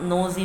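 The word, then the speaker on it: knows: मुंह में ऐसा है तनु हो गया कि साइलेंट रहता है तो दोनों का हम नोज बोलते हैं पर यहां पर सुमित जानता है कि आएगा नोज के एन ओ डब्ल्यू एस एक हाथ थोड़े जल्दी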